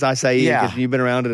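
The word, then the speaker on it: açaí: Yeah, it's like high, but it's acai because you've been around it enough.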